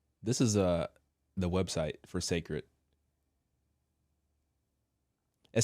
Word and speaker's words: Cécred: The beauty brand pronounced Cécred has been 6 years in the making.